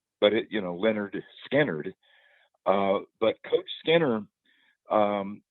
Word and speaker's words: Lynyrd Skynyrd: guy has changed the name and the the pronunciation but it you know Leonard skinnard uh but coach skanner um he became friends